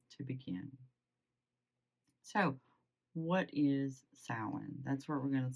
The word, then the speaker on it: Samhain: It's a pronunciation because everybody knows this one is spelled weird. Those M's kind of throw everybody off. I say sin. Some people say sin. And even strangers, some people say Sam hanging, which is fine.